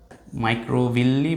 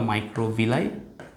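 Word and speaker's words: microvilli: হয় এগুলোকে বলা হয় মাইক্রোভিল্লি বা মাইক্রোভিলাই একেকজন একেক ভাবে এটাকে উচ্চারণ করে এবং এই মাইক্রোভিল্লি বা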